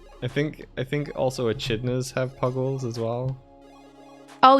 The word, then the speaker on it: echidna: Like, I think also echidnas have puggles as well.